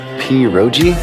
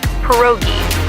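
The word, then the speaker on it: pierogi: Pogji did I pronounce that right? It's pronounced perogi. A tasty dish like dumplings.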